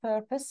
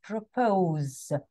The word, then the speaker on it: propose: one is day to either propose not purpose but propose propose can you see that